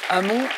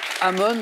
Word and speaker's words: Amon: là pas de réponse hamon amon les deux prononciation sont bonnes trois points pour magali